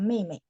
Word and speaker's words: 妹妹: Jadi kalau kita ngulang biasanya yang kedua dibaca nada 5 Bu. Jadi bacanya Mei Mei.